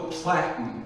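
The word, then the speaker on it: platen: thing is called the Platinum rhymes with flattened it's just a big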